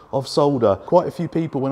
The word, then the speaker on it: solder: It's sodder. S-O-D spells sod. S-O-L-D spells sold. Put an E and R at the end. Sodder. Solder. On that bombshell, it is time to end.